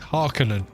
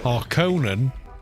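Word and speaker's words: Harkonnen: Harkinan is correct. Haronan um is the misprononunciation from the 1984 movie.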